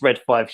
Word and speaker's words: Read 5: Yeah, I call it Red 5, just purely for the X-Wing on the logo. Yeah, and again, it should be. It's right. It is Red 5. You've pronounced it the same way.